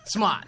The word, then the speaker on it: Smaht: You got to add a little bit more Rhode Island on that Smaht. thing. Smaht. There we go.